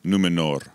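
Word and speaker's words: Númenor: island kingdom of numenor well pronounced r on the end numenor numenor i don't want glenn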